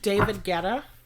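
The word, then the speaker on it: David Guetta: Kid Cy and David is it David geta that's what I say I'm pretty sure that's how you pronounce his name so anyway we're going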